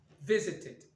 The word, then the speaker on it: visited: Donc ça donnera visited. Voilà les trois possibilités de prononciation du ED à la fin d'un verbe régulier.